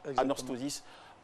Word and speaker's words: Anorthosis: Oui, c'est la bonne prononciation. Anorthosis. 1 an, une saison.